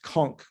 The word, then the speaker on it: conch: right turning conch shell some people say it should be pronounced conch i think that's wrong it's that rhymes with honk i think with the you and it should be anyway the dictionary says both and conch so left left turning